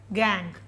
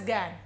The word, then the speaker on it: gangue: an ore is called gang it is pronounced as gang all the spellings are gangue now this is the